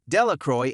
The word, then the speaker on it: Delacroix: dickie de la cora the villagers pronounced this name delacroix eventually made a great